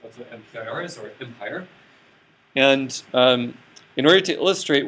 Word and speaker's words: MPIR: And by the way, you can pronounce it Empire. Empire, like the Empire Strikes Back.